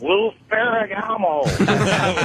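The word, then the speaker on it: Lou Ferrigno: I just wanted to let you know you're pronouncing it wrong. It's Lou Ferragamo.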